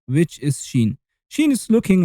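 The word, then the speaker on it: ش: Now the 13th letter, which is Sheen. Sheen is looking like Sin, but with three milkshakes on top of it. And guess it, yes, Sheen is pronounced like the sh of shake.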